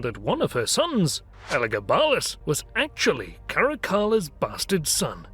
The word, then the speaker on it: Elagabalus: But in Latin, the A is indeed long. So pronouncing it Elagabalus with a long elongated A is respecting classical Latin phonemic vowel length.